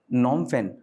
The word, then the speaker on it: Phnom Penh: And Cambodia's capital is is How is it pronounced? Phnom Penh. Right? Phnom Penh.